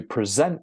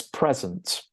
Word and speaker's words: present: If one of these words has 2 syllables, we generally stress the first syllable for the noun and the second syllable for the verb.